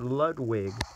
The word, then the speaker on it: Ludwig: supposed to be Ludwick not Ludwig they pronounce it so much it's so just a brand new they pronounce ludic so incorrectly but Bowser Jr has